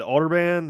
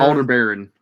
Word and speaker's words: Aldebaran: Man, I don't even know how to pronounce it. Aldebaran or Aldebaran? Aldebaran.